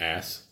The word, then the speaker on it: Aass: Spelled AASS. But we can pronounce it Ass.